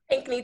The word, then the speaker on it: Pinckney: featuring the lovely alicia pinkney how do i how do you say your last name pinkney two syllables the color and then the knee perfect um who is